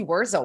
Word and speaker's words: Wurzel: Jay, we are so excited to have Wurzel with us.